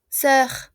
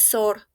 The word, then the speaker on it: sœur: Aquí tenemos una vocal complicada. S-O-E-U. Sé que parece un error, pero es así como se escribe, junto, unido, ¿ok? Y es como una O, sœur, sœur, una O-E, sœur, sœur, ¿se entiende? No es sor, es sœur, sœur.